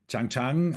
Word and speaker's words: Trang: And it's Trang, Tran, that's the Trang, I learned is the right pronunciation, and Wanda von Bremen.